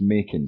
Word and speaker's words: Makin: you before we started no it's making but it's it's a very common mistake in Scotland and is uh the go-to pronunciation but it's making so it originally comes from Wales I'm led to believe